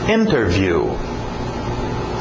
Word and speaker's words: interview: Interview. Interview. Geralmente pronúncia rápida, cai o T, fica só interview, igual internet, né? Interview, sem o T.